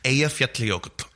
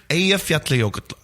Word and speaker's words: Eyjafjallajökull: from all over the world desperately trying to pronounce it, but it's Eyjafjallajökull. One more time for the listeners. Eyjafjallajökull.